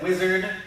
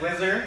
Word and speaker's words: Whizzer: I have been seeing too, like a lot of people saying wizard. Yeah, nowadays it's Whizzer. It's actually pronounced, but yeah.